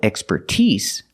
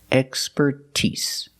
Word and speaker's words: expertise: that is his expertise with the word expert we put the stress on the first syllable expert but with expertise we put the stress on you first and third syllable that's the first and the last syllable expertise expertise so expertise is a